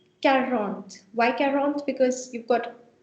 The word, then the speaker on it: quarante: Make sure you do pronounce, everyone, tront. Now this is 40. 40 is called quarante.